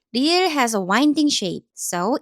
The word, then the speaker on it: 리을: Its sound is somewhere between R and L in English. R or L. At the beginning of a syllable, it sounds like a light, soft R, and at the bottom, it sounds closer to an English L.